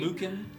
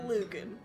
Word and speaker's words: Lücan: Lücan. It's kind of pronounced like Lupin, but with a little bit of an ah, and then a little bit with the C instead of the P.